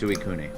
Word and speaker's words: Suicune: Suicune? Oh god, I'm the worst at pronouncing Pokemon names. Ask Lucas. It's sweet. It's abysmal. Yeah, so assuming it uses the Japanese pronunciation, it's Suicune.